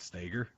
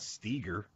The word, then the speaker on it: Stager: But Wait, how do you say Stager? just like that, Stager. Okay. Why is Katie saying she didn't like the way you said it? Can you elaborate, Katie, please? It's not Steger.